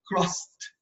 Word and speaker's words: crossed: خلي بالنا لما نيجي تنطق كلمة cross حطيت لها ED فنطقتها ايه؟ نطقتها crossed. crossed. لما اقول انا بوست ابني فاقول I kissed my son. kissed. ما اقولش kissed. الاي دي بعد الاس بعد الس تتقال ت.